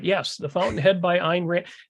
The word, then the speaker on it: Ayn Rand: the Fountain Head by einrant they always say it rhymes with mine but you kind of hear the why in there if you're saying it